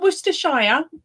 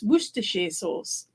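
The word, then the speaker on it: Worcester sauce: that is werer yeah not worshire or however you pronounce the source it's wer sauce right and every time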